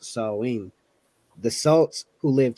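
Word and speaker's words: Samhain: date back to the ancient Celtic Festival of Sam Hayne which is pronounced salween the salts who lived 2 000 years ago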